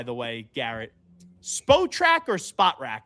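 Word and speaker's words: Spotrac: Spo or spot rack? How do you say it? Do you know what I'm the contract site? Yeah, I I haven't heard it the first way you said it. Spottrack.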